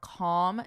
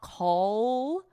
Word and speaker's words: calm: Notice for pronunciation, there's no L in this word. It's not call with an L. No, it's calm, And notice the vowel even. It's an ah, calm down, calm down.